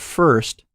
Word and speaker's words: first: In American English, when the R follows a vowel in the same syllable, it forms a new sound, called an R-colored vowel.